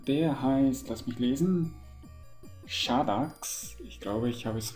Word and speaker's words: Shadax: genau zu sein der heißt lass mich lesen shadax ich glaube ich habe es richtig ausgesprochen also s h a d a x shadax der Magier und er ist auf einer